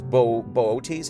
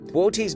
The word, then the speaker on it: Boötes: Its real name is Boötes. I think is how you say that.